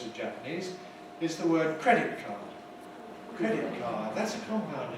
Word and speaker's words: credit card: And we hear the cardo, as if the main stress is on cardo. But in English it's on credit card, credit card, credit card, credit card, credit card.